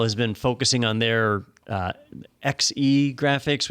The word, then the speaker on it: Xe: Intel has been focusing on their XE graphics, which I think is pronounced she, but that graphics platform, and it takes them a while to do it.